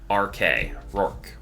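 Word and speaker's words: Roark: See, I think what I need to do is just mentally have it spelled R-O-R-K, Rourke. Because then I can pronounce it right.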